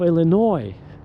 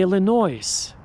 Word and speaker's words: Illinois: They say Illinois, which is absolutely ridiculous. It's not even I cannot believe this. This is not some Joe Schmo off the street. These are anchors and nobody corrects them. So if you say Illinois during your job interview with AI, you will never be hired.